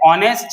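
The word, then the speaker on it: honest: देखिए नेक्स्ट है ऑनेस्ट मैन। ऑनेस्ट हम कैसे लिखते हैं? ऑनेस्ट, इसके अंदर भी एच साइलेंट है, तो ऑनेस्ट कैसे लिखेंगे? ये है इसका उच्चारण।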